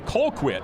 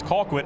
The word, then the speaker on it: Colquitt: Let's talk about the Colquitt County Packers. Now, a lot of folks may say Colquitt, but if you ask the locals, it's Colquitt, and that's what I'm going with here tonight.